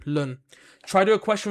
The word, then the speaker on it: ln: Why'd you pronounce lun like that? Because it's the natural log. LN, lun.